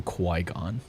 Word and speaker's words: Qui-Gon: The only the only part of Phantom Menace I liked was any part with Qui-Gon Jinn in it, and that didn't last very long.